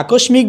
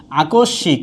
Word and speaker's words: আকস্মিক: আবার এখানে আরেকটা উচ্চারণ হচ্ছে আকস্মিক, কেউ যদি আকস্মিক বলে তাহলে কি হবে না, উচ্চারণটা হবে না, উচ্চারণটা হচ্ছে কি আকস্মিক।